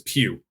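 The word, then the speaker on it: Pugh: zach's zack's real last name is pew yeah p-u-g-h it's a wealth oh okay okay like florence yes yes exactly okay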